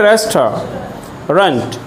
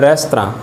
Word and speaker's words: restaurant: Right, last Sunday dinner कौन से रेस्टोरेंट में लिखना, कौन से रेस्टोरेंट में, RESTAURANT, रेस्टोरेंट की स्पेलिंग होती है रेस्टोरेंट, क्या बोलेंगे? रेस्टोरेंट, और फ्रेंच में इसको बोलते हैं रेस्तरां।